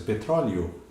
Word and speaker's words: petróleo: E ele sabe que essa leitura aqui do final da palavra, o E brando, parece um I até na pronúncia, petróleo.